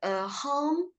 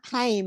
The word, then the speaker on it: Haim: I was thinking, I don't know if I can pronounce their hum. Is that how to pronounce it? Haim, is it? Haim. Haim.